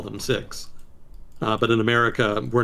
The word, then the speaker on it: Sikhs: as an aside it's actually supposed to be pronounced sikhism and adherents of the religion are called six uh but we here in the united states